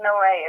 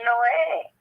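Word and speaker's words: Noe: It's called the Ark of Noé. It's spelled N-O-E. Mm-hmm. So it's not pronounced no. It's pronounced Noé. That E is there for a reason.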